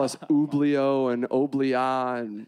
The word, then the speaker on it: Oblio: it's called autophobia and we are called oblo which sounds it's spelled like it sounds so it's easy to